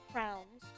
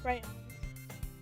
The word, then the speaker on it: crayons: I once met someone who pronounced crayons as crowns.